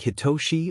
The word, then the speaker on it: Hitoshi: write to you instead is your name pronounced like hitoshi or the other boy blinked